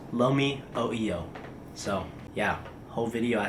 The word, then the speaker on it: Lomi oio: trying Uncle holics uh Lumi Oyo and then they said uh what did you just say I was like uh Lomi Lomi oo and they said it's pronounced Lomi o EO so yeah whole video